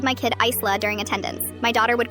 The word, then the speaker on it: Isla: My daughter's name is Isla, pronounced Isla.